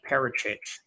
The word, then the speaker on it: Peric: Okay, that's how you pronounce his name. Peric.